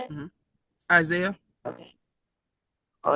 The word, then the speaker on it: Isaiah: Isaiah.